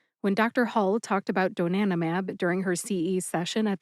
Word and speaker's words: donanemab: Donanomab has four syllables and you can add the four letters at the end separate from donanimab. So it's donanomab a zbt. A little slower. That's do nanmab a zbt.